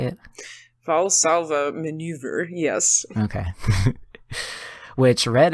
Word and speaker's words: Valsalva: Valsalva maneuver, yes.